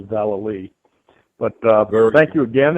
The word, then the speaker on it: Vallely: just wanted to say the pronunciation of my last name is Val so I just wanted to make sure that uh uh everybody knew it's Val but uh thank you